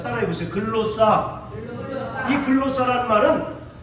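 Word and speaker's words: γλῶσσα: 글로 싸라고 하는 헬라어를 사용했어요 자 따라해 보세요 글로사 글로사이 글로스라 말은 혀 혀를 가르킵니다 그래서 영어 성경에 텅이라고 발음을 해요 통즈라고 이렇게 복수형으로 발음을 합니다 예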